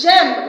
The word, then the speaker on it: j'aime: someone to tell me je aime. I didn't put je here. This is je. This is different from this. So it's j'aime because this is I told you. A and I is pronounced E.